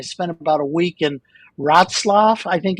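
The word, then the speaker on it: Wrocław: about a week in rotzlaff I think it's called I always have trouble pronouncing it it's pronounced nothing the way it's spelled at least no no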